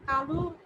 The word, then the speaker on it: কালো: আর কৃষ্ণ বর্ণ অর্থ যেটা, তার উচ্চারণ হচ্ছে কালো, একটা ও আছে শেষে।